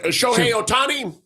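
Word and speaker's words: Shohei Ohtani: What uh what do you think about the how you I don't know how you pronounce his name. Three home runs and 10 strikeouts. Oh yeah. Show Otani.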